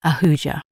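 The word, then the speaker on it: Ahuja: My name is Auja. Could you please spell that for me?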